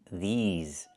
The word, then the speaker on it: these: I need the long E like green beans. These. Plus the Z sound like in zebra and zipper. These words. Not this words, but these words.